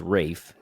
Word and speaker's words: Ralph: l p h Ralph it's Ralph but it's pronounced Rafe finds f i n